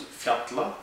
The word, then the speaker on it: fjalla: break it down into Aya which is Island fatla which is mountain and yuk which is Glacier